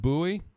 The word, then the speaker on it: Bowie: here we go and you pronounce it Bowie yeah Bowie Maryland afternoon my name is